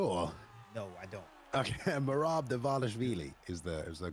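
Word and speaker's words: Merab Dvalishvili: Bailey, in between Jose Aldo and Bailey, help me out with the correct pronunciation. You want to give it a go, or? No, I don't. Okay, Merab Davashvili is the correct way to do it.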